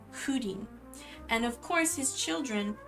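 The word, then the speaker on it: Húrin: It just because there's pronunciation guides like if you read the children of Hudin, there's a pronunciation guide right at the beginning of the book that tells you it's Hudin.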